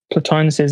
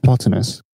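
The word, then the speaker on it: Plotinus: yeah so uh uh how did you say his name because i've always said potamus i thought it was platinus it probably is platonus anyway so yeah planus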